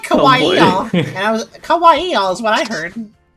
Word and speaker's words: kawaii: It's a twocllable word and I think you put four syllables to it.